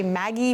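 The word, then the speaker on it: MAGI: short do you say Maggie mag you know how do you say the acronym Maggie is usually what I say this a little bit easier right okay so we're talking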